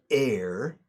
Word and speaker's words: heir: he wasn't the heir, el heredero, heir como aire, suena igual.